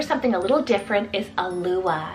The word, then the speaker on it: Alua: adored then for something a little different is a Lua it's spelled a-l-u-a alua another very dreamy very soft